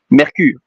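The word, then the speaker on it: Mercure: And then first planet, Mercury. M E R C U R E. So it's like Mercury but with an E at the end. Mercur.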